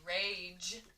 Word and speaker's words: rage: of that word rage when you say rage you hear ja that is that soft g er age rage next